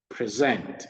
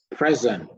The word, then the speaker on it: present: If a word is both a verb and a noun, the noun stresses the first syllable, whereas the verb is stressed on the second syllable.